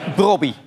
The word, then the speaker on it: Brobbey: Robbie heet brian Robbie de naam Robbie spreek je uit eh ja met een o dus eigenlijk een Yes zoals je het schrijft ja dus Robbie brobby maar ik heb eh